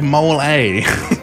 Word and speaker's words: mole: You say it like mole A.